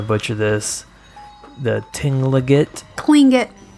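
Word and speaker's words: Tlingit: I'm definitely gonna butcher this the tingling it twing it cling it it's pronounced yeah okay there we go so the cling get people of the rule of that region with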